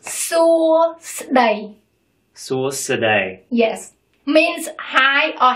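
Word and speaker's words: សួស្តី: Hi in Cambodian is longer than in English. Suosadai. Three syllables. Suosadai.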